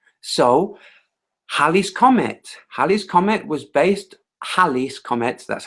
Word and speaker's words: Halley's Comet: So Halley's Comet was based, Halley's Comet, that's how it's pronounced, was based on observation, not observation of orbits.